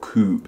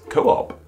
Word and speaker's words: co-op: the blue P um if we use the diariesis people know that those two o's next one another don't make a singular ooh sounds not Coupe it's Co-op and that would help